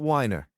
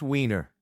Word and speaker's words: Weiner: No, no, no. Not whiner. It's pronounced Weiner.